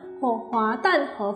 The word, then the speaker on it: 滑蛋河: completes our Hor Fun Wat Tan Hor Fun Is very common in Singapore and Malaysia you can find it everywhere The name of this food is pronounced in Cantonese Wat Tan Hor or